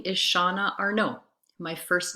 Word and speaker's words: Arnaud: We don't pronounce the D in our name, so it sounds like Arnaud, not Arnaud.